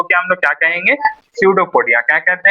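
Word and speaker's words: pseudopodia: सडोपोडिया। क्या कहते हैं? सडोपोडिया। पी जो है यहां पर पी साइलेंट रहता है। इसको पढ़ते हैं हम लोग सडोपोडिया।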